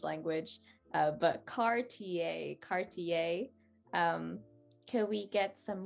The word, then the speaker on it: Cartier: tricked you i'm sorry the a is french that i e r turns into a very light a y sound um and that's just